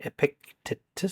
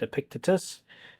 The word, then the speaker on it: Epictetus: Okay, so now he's going to say the word Epictetus, so that's how he pronounced it. So as soon as he said Epictetus, in the next few seconds, we'll be ready to listen for number 33.